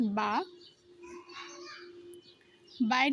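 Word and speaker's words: با: পরে রয়েছে বা। বায়ের উচ্চারণটা দুই ঠোঁটের সাথে হালকা করে লাগিয়ে উচ্চারণ করতে হবে।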